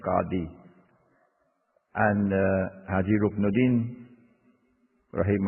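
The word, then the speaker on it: qadi: this into another kolakozhi the correct pronunciation is kadhi and look nadine for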